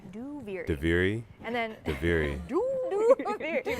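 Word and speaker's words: Duviri: out loud is a that's how you pronounce it by the way diviri and then do not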